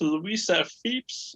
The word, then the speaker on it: Lisa Fipps: It's Louisa Phipps. Is that correct? Yes, it's exactly how you say my name. Exactly. Well, I figure after a decade of friendship, I'd pretty much have it down. Lisa Fipps, oh my God, I'm so proud of you.